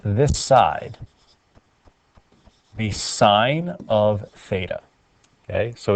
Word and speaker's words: theta: and it represents an angle measure so it's pronounced theta and remember it is a variable the first